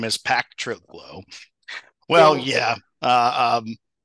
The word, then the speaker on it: Pactriglo: friend Benjamin and his business then I just pronounced it again I'm gonna have you do it for me patrio P Trigo my name is but the company's name is pack trlo well yeah uh um it's a word I